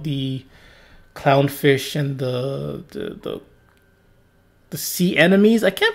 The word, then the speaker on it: anemone: I thought it was sea enemy. I don't know why. I think I ever heard on Arthur they call it sea enemies, so that's why I'm calling it sea enemies.